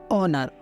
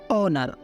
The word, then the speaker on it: honor: For example HONOR, ऑनर, ऑनर, ONOR भी ऑनर ही होता है और HONOR में भी हम ऑनर ही बोलेंगे क्योंकि वहाँ पे हम एच को साइलेंट रख रहे हैं।